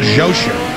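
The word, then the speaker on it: Xhosa: the most powerful tribes in southern Africa the zosa if I'm pronouncing that right x h o s a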